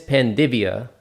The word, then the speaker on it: Panvidya: I am your host, Franco, and today, as you guys can see, I am joined by Magnus Panvidya. Is that how you pronounce it?